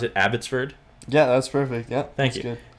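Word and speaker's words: Abbotsford: about your hometown how do you do you pronounce it abbottford yeah that's perfect yeah good uh how long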